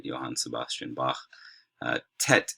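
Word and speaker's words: טית: right johan sebastian bach tet is like our a hard t sound uh yod is like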